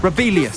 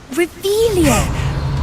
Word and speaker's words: Revelio: Rebellious. Saying it wrong. Ugh, Revelio.